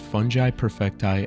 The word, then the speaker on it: Fungi Perfecti: In 1980, Paul founded Fungi Perfecti LLC, and he makes sure you know it's pronounced that way.